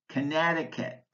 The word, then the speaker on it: Connecticut: Words with a silent C include Connecticut, corpuscle, czar, descend, disciple, discipline, indict, muscle, scene, science, scissors, scythe.